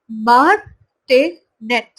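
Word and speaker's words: martinet: तो देखिए इसका प्रोनाउंसिएशन यहाँ पे दिया हुआ है मार्टिनेट।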